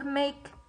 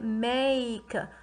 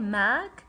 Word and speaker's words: make: i have final e how do i pronounce the letter the vowel before it this is the vowel before it right i'm saying make did i say mag no i said make i said the name of the vowel that's what